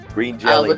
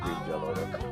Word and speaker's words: Green Jelly: Green Jelly now. Sometimes they pronounce it Green Jello.